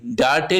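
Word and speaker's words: date: डी ए टी ई मगर पढ़ा जा लिखा जाता है डेट डी ए टी ई डटे लिखा जाता है मर पढ़ा क्या जाता है डेट पढ़ा जाता है ई जो आखरी वाली होती व साइलेंट हो जाती है इसी तरह अरबी में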